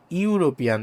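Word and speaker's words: European: যেমন ধরো ইউরোপিয়ান। দেখো শব্দের শুরুতে কিন্তু ই আছে কিন্তু ই থাকা সত্ত্বেও এর উচ্চারণ হচ্ছে ইউ ইউ এর মত ইউরোপিয়ান যার জন্য এখানে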